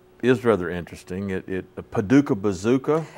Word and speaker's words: Paducah: I was like yeah the only thing that rhymes with Paduka is bazooka is bazooka yeah yeah